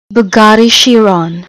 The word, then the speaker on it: Bugatti Chiron: beginning of this video, this is how you pronounce this car. Bugatti Chiron.